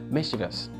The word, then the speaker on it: mischievous: up saying unfortunately okay let me use this mischievous mischievous mischievous yeah bubble has the prime minister's